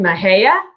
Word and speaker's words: Mexia: So now, did anyone give me credit for pronouncing Mahia instead of Mexia?